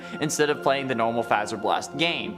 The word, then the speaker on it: Fazer Blast: suggested a battle at fazer blast there are you happy I said it right for once but I like saying phaser okay so leave me